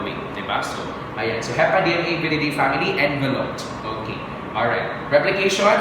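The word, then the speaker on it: Hepadnaviridae: That is, of course, part of the family Hepa DNA Viridae family. Ayan, diba? So, same with Picorna Viridae. I pronounced it before as Hepadna Viridae.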